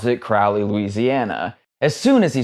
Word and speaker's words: Crowley: Doug Kershaw himself told me that the people who live in Crowley, Louisiana, pronounce it Crowley, Louisiana. As soon as he started to tell me how residents of Crowley, Louisiana say the name